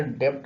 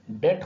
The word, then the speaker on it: debt: DEBT आजकल डेप्ट भी कहते हैं, लेकिन DEBT डेट होता है, डेट यानी कर्जा।